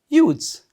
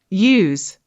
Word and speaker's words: use: Use. Let's check your pronounce is correct or not. It means to utilize. use, Use. Use. Similar word here, but the pronounce is different.